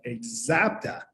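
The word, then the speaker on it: Axapta: they were creating called a zapta that's how you pronounce that rebecca it's a chapter with an x right it's like a z and so they bought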